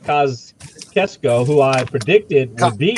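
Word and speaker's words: Kosciusko: Kosciuszko, if I say it right, Kosciuszko, who I predicted would beat. Kosciuszko.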